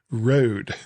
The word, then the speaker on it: Rode: It's like, but it says Rode. Oh, okay. Sorry. The thing that surprised Rode me. As in toad? Yes. Yes. They rhyme. It rhymes.